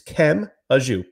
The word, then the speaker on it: Kemajou: e ion and then it's not K it's Kem auu pretty much how how